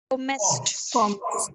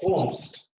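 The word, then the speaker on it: kommst: Du, Comest. not comest, comst.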